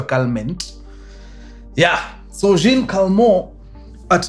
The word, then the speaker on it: Calment: Calm inapronounciziwa Calment.